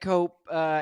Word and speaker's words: Cope: Yeah, I want my Jake Cope. Is it Cope? Is that how I pronounce it? Yep, cope.